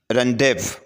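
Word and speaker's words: rendezvous: है रनव या रनव तो यह फ्रेंच वर्ड है और इसकी जो मीनिंग है वह है इजतिमा कामकाम या मिलने की जगह तो इसमें यह जड लेटर जो है जी साउंड ये इसके अंदर साइलेंट है रनव ठीक है रन डेव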